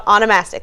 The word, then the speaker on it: onomastics: So the American Name Society, the study of names is called onomastics. Did I say that right?